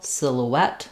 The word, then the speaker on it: silhouette: element of the French, which is that we stress here on the et syllable, silhouette, silhouette, but the vowels are different and anglicized in this word. So we have the I vowel for letter I, sil, sillo, and then we have the O diphthong for OU here.